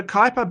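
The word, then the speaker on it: Kuiper: I I think that it's actually quiper. It's it's Kooper. So the the original guy that named it was a barrel like his his ancestry. It was the same for Cooper. It's just in Dutch.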